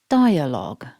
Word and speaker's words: dialogue: pronunciation of the word dialogue in English as we can see here this is a three-syllable word and we need to stress syllable one so repeat after me dialogue focusing on syllable one